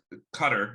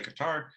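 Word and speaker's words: Qatar: the things that happened in before um obviously cutter is the way to pronounce some people say guitar um they there was rumors that FIFA which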